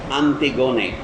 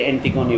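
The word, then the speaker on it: Antigone: একটি ভদ্রমহিলার নাম আপনারা শুনেছেন, তার নাম হচ্ছে আন্তিগোনে। আমি গ্রিক উচ্চারণে বলছি, ইংরেজিতে অ্যান্টিগোনি বলেন আপনারা।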